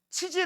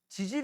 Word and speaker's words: 지질: 조심 하세요 발음 . 치질 이 아닙니다 . 이것 은 지질 ( 지질 ) 입니다 .